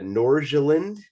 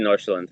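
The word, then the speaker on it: Nordsjælland: going to be uh norjaland or something how is that pronunciation yeah FC Northland you're pretty close okay for me that's like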